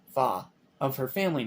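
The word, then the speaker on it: 花: Mandarin the Disney film uses the Cantonese pronunciation pronunciation fa of her family name in Mandarin her name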